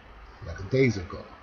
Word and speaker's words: lackadaisical: 세 번째 보면은 lackadaisical 라고 daisical 라고 읽어야 되는데 그거 뭐 lackadaisical 라고 읽는다거나 lackadaisical 라고 읽으면은 말이 이상하게 들려요.